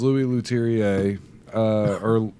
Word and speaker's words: Louis Leterrier: Is Louis Leterrier, that's how you say it.